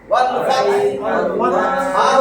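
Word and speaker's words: الفتح: ইযা জাআ নাসরুল্লাহি ওয়াল ফাতহ, ওয়াল ফাতহ উচ্চারণ ওয়াল ফাতহ, কষ্ট যখন আসবে আল্লাহর সাহায্য এবং বিজয়।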